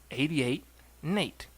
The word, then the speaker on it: 88N8: So I was like, no, N8. N8 makes Nate.